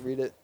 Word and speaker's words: Reddit: oh my God I just thought it was pronounced read it I mean read a writer spelled the same